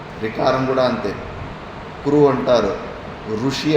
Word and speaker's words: ఋషి: కురు అంటారు, ఋషి అంటారు, రూ కాదు అది రి, అట్లా రావాలి ఉచ్చారణ. మరి దాని స్థానం మూర్ధ.